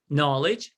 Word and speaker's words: knowledge: don't pronounce the k knowledge we don't pronounce the k so i think uh